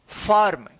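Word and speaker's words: firm: इसी प्रकार से एफ आई आर एम फॉर्म।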